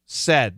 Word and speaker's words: said: Some university actually researched that, and they said, not say, said. This is a short E pronunciation.